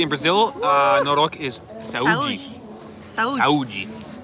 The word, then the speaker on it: Saúde: Saúde. No, you don't say the E. Saúde.